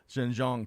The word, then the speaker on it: Xinjiang: particularly in the uh jean jean province i think i got that right too jin john close gosh i got the wrong emphasis on the wrong fastness on the wrong side so xinjiang province cbs news reports and